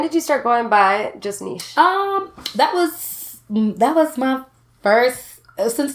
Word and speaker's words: Just Nesh: So I was like, I'll just do Just Nesh. So it's 2 syllables.